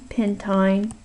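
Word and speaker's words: pentyne: is f for alkine you pronounce all of these with a long I buttine pentin and so on okay let's go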